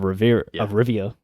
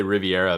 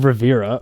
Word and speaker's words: Rivia: I thought you were gonna say you wanted to say Riviera because you're used to probably like Ron Rivera.